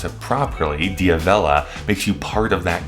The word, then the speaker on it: D'Avella: Knowing how to pronounce it properly, D'Avella, makes you part of that group.